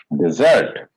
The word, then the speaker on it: dessert: you see my difference can you see the the way i speak desert dessert so this differentiation has to be there very distinct dessert dessert dessert dessert